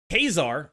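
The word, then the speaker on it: Ka-Zar: other Cosmo decks are Kar that's actually how it's pronounced but I'm probably going to go back and forth between kesar and Kazar depending on how lazy I am is a very very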